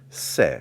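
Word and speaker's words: שה: we see the word se se which means lamb pronounced s-e-h se lam but recognize this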